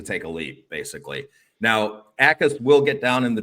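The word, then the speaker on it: Jacas: It's so the J is silent. It's Akis. Akis. Okay. Gabe Akis. Yeah. Something I was saying Yakis, but yeah, okay, Akis.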